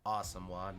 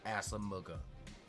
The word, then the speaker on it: Asamoah: And yes, for those that aren't aware, it's pronounced Asamoah, not Asamuga.